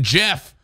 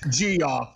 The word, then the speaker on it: Jeff: I can't help if freaking Jeff from Sunoco runs out. I didn't know. Okay, first of all, it's pronounced G-off.